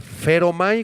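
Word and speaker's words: φέρομαι: 21, es la palabra feromai con acento en la e, que significa conducir a alguien, guiar a alguien.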